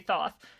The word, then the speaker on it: Thoth: It's a Neil Gaiman thing, and he has this character that just says it's actually Thoth, or Toth, however people pronounce it. I say Thoth, and Thoth is always